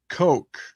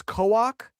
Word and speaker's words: Coke: Lord Coke. Yes, that's what I thought. Yes, we were right. Now, the only I thought maybe it was Coak. The only reason being is because Coke is either Coke, obviously, or the Koch brothers, Koch, whatever, stuff like that. And this one is different than both those.